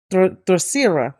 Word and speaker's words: Terceira: So it was on the Terceira is the proper way to say it.